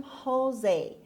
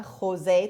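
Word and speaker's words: José: خب این یه اسم مکزیکی هست که میخونن خوزه. تو فارسی هم شاید ما بگیم خوزه، ولی در واقع امریکن ها که خ ندارن، پس اونا میخونن خوزه. خود مکزیکی هم شاید خوزه تلفظ کنن، مثل هی که از ته حلق هست.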